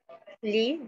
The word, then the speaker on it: lis: Que se escribe lis, ¿no? Pero habíamos dicho que esa S no se pronuncia. ¿Por qué? Pues, bueno, en la primera persona se conjuga lis, ¿cierto? Pero se pronuncia li.